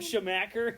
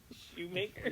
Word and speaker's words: Schumacher: Michael Schumacher. Like Shoemaker.